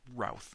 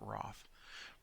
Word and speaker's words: Routh: Sorry, it's Routh, not Roth. Brennan Roth. South. Roth. Routh. South. Routh. It says to pronounce it like South. Routh.